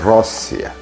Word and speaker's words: Росія: Трохи інакше ніж зараз а саме Росія і з наголосом на першому складі а не на другому як тепер Росія це візантійська назва Русі